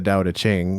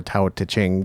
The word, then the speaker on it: Tao Te Ching: him but certainly the dow to ching or tao ta-chang depending on how you pronounce it would contain a lot